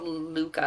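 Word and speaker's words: Lykke: Um it's by it's this book called Luca I think it's pronounced. It's L Y K E.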